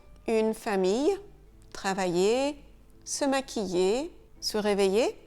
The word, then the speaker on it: famille: ILL, il peut se prononcer ye. Une famille, travailler, se maquiller, se réveiller, une feuille ou encore une fille.